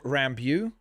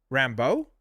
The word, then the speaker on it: Rambeau: You mispronounced Rambeau. Monica Rambeau? Rambeau? It's not Rambeau. Rambeau. It's B-E-A-U.